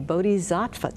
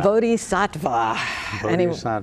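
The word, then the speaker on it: bodhisattva: Zen Center and a bodh zva teacher how did I do on that pronounce close bodh satva bodh satva I'm so glad you're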